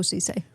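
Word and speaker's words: Ceesay: Marorrow, wandered onto Cece is how you say it. Y. Thank you. Babu Cisi.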